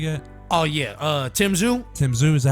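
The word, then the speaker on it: Tim Tszyu: Tim Zhu, is that how you say it?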